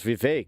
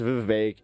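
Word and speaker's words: Vivek: Um his name was Vive and it rhymes with cake.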